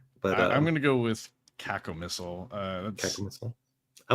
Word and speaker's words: cacomistle: You're gonna have to pronounce that again because I will butcher it. But I'm gonna go with cacomistle.